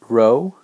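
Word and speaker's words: rho: over here that's the Greek letter row pronounced row like you row about and it's row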